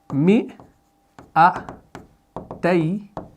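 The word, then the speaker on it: مِائَتَيْنِ: یہ جو الف یہاں پر بیچ میں ہے اس کا تلفظ ہم نہیں کرتے, یعنی ہم اس کو پڑھ رہے ہیں ایسے مئتین. تو اس الف کو ہم نہیں پڑھتے.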